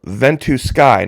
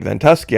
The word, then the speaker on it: Ventusky: popped up on a website called Vent to Sky now apparently I've been pronouncing it incorrectly calling it ventusky I think a lot